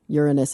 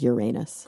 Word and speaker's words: Uranus: You're basically saying, "Oh, Uranus." And when you go to like Miriam Webster and you look at the pronunciation, they say both Uranus and Uranus.